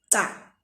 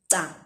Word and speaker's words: ca: CA without the H is pronounced cha. It's pronounced cha.